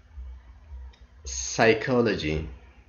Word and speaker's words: psychology: one the first rule silent p at the beginning of psn the pt psychology psychic now let us see